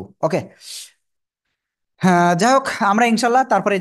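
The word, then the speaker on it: ه: এই যে অক্ষরটা, এই অক্ষরের নাম হলো সিম্পল হা। হা, সবাই একসাথে জোরে জোরে উচ্চারণ করেন তো।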